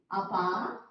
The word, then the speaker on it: ಅಪ್ಪ: Appa, appa. Observe the pronunciation. Very important. So if you miss the otthakshara, you don't get appa.